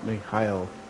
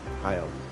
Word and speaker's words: Mihail: to let you know, Mihail is the Jewish name for, Michael, actually. Mihail. Just a little bit of facts about my actual name. And that's how my name is pronounced in Hebrew.